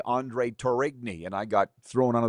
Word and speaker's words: Tourigny: LOL, yes, Andre Tourigny, or as I used to say, Andre Tourigny, and I got thrown under the bus for that.